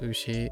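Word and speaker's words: うし: For example, 牛、牛、 ushi is pronounced ushi.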